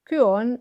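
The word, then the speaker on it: κύων: And I want to point out that this Y here, the Greek upsilon, is actually pronounced ü, like a German ü or a French ü for that.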